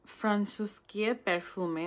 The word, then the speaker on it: Francuskie Perfumy: যদি পলিশ উচ্চারণ করি এটার উচ্চারণ হয় ফ্রান্সিসকিয়ে পারফিউমে। আই হোপ আমি সঠিক উচ্চারণ করতেছি।